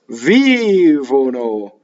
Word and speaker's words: vivono: So the common mistake I hear is vivono with two V's. Vivono.